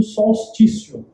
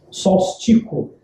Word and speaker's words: solstício: Ela era chamada antigamente, como a festa do solstício, solstico. Existe uma variação na pronúncia.